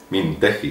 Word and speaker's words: Mintegi: a la cabeza Laura mintegi mintegi sí porque no tiene u en medio yo como no sé